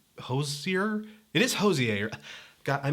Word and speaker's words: Hozier: whole proto blue-eyed soul kind of thing that Hosea hosts here it is hozier god I mispronounce everything people just I mispronounce everything just